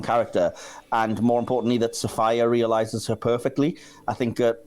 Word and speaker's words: Sophia: Yeah, it's pronounced Sophia, by the way. Is it actually Sophia? Yeah. I did not know that. I've always thought it was Sophia. Yeah, I think everyone does. It's spelt that way, but she doesn't pronounce it that way.